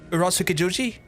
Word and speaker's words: Urotsukidoji: Oh, that's just the, I can't pronounce that. Urotsukidoji? No. Urotsukidoji? Urotsukidoji? Urotsukidoji? That's my best attempt. Urotsukidoji? Urotsukidoji?